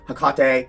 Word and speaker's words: Hecate: Which is actually kind of technically the correct pronunciation. It would be Hecate. Interesting. Yeah. Um, all pronunciations are correct though. Hakkate, Hecate, Hecate, Hecate.